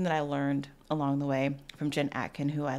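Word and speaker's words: Ouai: So that was something that I learned along the way from Jen Atkin, who I love. She's amazing. She started, is it pronounced Way?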